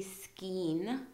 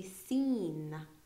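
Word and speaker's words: scene: in most cases, just the S is sounded out, not the C. So we don't say skein, we say seen.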